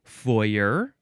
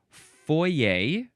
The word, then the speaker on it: foyer: Next is, you can pronounce it foyer, or foyer, or foyer. I think you could also emphasize the second syllable if you wanted to.